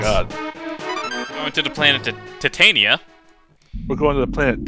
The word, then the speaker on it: Titania: You gotta get the pronunciation right. It's Titania. If you're talking about the metallic alloy, it is Titania, as in titanium. Titania is the name of the fairy queen, and also we're gonna retake weather control.